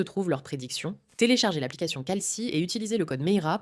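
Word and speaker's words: Kalshi: Au fait, calci sponsorise cette application et ils sont la plus grande bourse de prédiction aux États-Unis.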